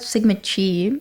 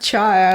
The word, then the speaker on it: Sigma Chi: I found out Sigma Chi. Sigma Chi? Not Chai. Chai. It's like I thought it was like pronounced as like phi, is pronounced as phi.